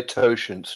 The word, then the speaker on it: totient: So George, how do you pronounce this? Yes, I would say totient too.